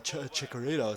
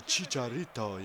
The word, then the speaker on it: Chicharito: say H chorito or Chicharito or whatever H because in the comments every time I say that people are like oh dude it's not a chorito it's like a a Chicharito you know and you